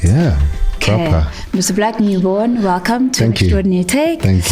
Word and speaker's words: Blaq Nubon: Blaq Nubon. Am I saying it right? Yeah, proper. Mr. Blaq Nubon, welcome to Extraordinary Take.